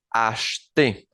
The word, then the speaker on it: acheter: El primer verbo que tenemos es el verbo acheter, acheter, que es comprar. La primera E no suena como E, sino como E, acheter, acheter, acheter.